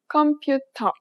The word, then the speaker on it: 컴퓨터: It sounds similar to its English counterpart, but there are important differences. If you pronounced it like you would in English, it would be hard to understand.